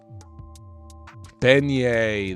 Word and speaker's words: beignet: i don't know i've never heard of it beignet there you go it's a french type of